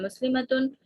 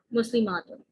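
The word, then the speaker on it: مسلمات: यहाँ पे आप गलती ये करते हैं बेटा, जब आप पढ़ते हैं इसको इस तरह से पढ़ते हैं मुस्लिमतुन, मुस्लिमातुन, इस तरह से प्रोनाउंस करोगे ना तो गलती हो जाएगी। ये मुस्लिमतुन है लेकिन ये मुस्लिमातुन है।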